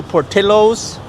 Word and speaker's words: Portillo's: So, we're headed to Portillos, that's the right pronunciation. We're headed to Portillos to try a classic Chicago hot dog.